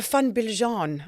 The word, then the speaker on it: van Biljon: And sitting opposite me today is actually our first guest that we had, Mario van Biljon, I believe is the correct pronunciation. Yeah, I suppose so. I believe so.